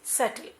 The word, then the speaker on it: subtle: बच्चों, SUBTLE, this is सटल। बी बच्चों silent है। क्या बोला हमने? What I said? सटल, B silent.